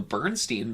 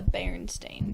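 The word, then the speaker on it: Berenstain: fairly certain it's the baron stain bears bear see that doesn't sound right stain yeah it's the baron stain bears like stain like stain on a tablecloth or like think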